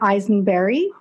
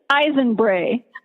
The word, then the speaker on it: Eisenbrey: her name is Eisen berry did I say it right nope Oh tell us how to pronounce your last name please it's Ivan Bray eyes and brain thank you so